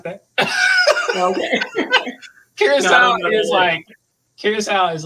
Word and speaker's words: Curaçao: If you ever heard of that, Curacao or Caraco is how some people would pronounce it.